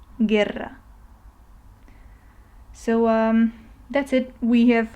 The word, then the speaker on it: guerra: effects of the E, but the U ends up being silent. So the U kind of sacrifices itself, you don't read it, in order for the G to be pronounced in the easier way. Okay, so guerra, you just read the G in its normal form, and then you read the rest of the word.